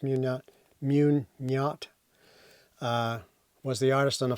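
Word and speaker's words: Meugniot: Will Munyot, I think it's Munyot, pronounced Munyot, was the artist on the first volume.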